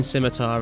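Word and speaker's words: scimitar: that just kind of sounds wrong but R simitar is is the proper way to say it I just because I said it skar as a kid so many times like I'll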